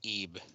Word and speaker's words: Ib: which is another uh it's actually pronounced eeve it annoyed me when they said it that way in the thing ah let's see SpongeBob